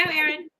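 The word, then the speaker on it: Arei: Okay, Aaron.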